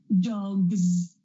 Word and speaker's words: dogs: If this happens, then we get a Z sound. For example, dog, g, g, g. G is voiced because I can feel vibration. Dogs, gz, gz. So I'm going to add a Z sound at the end there.